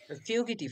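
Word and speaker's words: fugitive: ইয়েস, ফিউগিটিভ, ঠিক আছে, উচ্চারণ কি হবে?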